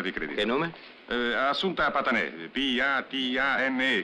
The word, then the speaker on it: Patané: Assunta Patané, P-A-T-A-N-E, con l'accento sulla E finale.